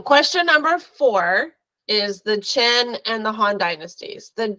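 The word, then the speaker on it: Qin: tells you immediately that the chin which is spelled q i n and the Han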